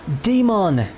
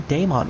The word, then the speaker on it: Daemon: And in the English version, they actually do call him Daemon, which is the other pronunciation for demons, which is D-A-E-M-O-N.